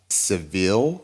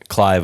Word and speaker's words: Clive: And then you have Seville. Is that Seville Owen? Is that how you pronounce his name?